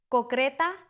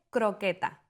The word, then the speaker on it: croqueta: Cocreta en lugar de croqueta.